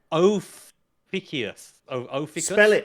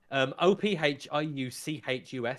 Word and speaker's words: Ophiuchus: So there's one called I was going to try and pronounce it Ophiuchus. Spell it out for me. Ophiuchus.